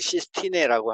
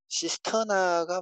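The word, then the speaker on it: cisterna: 그 골지 장치에 질주관 한 개를 시스티네라고 하는데 시스터나가 맞습니다.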